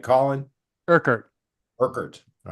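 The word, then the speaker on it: Urquhart: connory Roy Kat do I have that name pronounced anywhere near right Colin kard kard all right and he's standing in front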